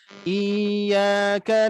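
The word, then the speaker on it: إِيَّاكَ: Iyyaka na'budu wa hati-hati ya. Sifat tasydid dia harus mensukunkan huruf yang dibacanya dulu. Iyyaka, bukan iyyaka tapi iyyaka na'budu wa iyyaka.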